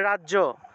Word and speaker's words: রাজ্য: ঠিক আছে, তাহলে রাজ্য থাকলে রাজিয়া, দিব্য থাকলে দিব্যা, নৃত্য থাকলে নৃত্যা, এইভাবে নৃত্যা, রাজিয়া, দিব্যা, এইভাবে উচ্চারণ হবে।